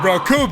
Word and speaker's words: Recoome: And the Recoome that rhymes with your doom stands at about, holy ass, that's a really tall figure.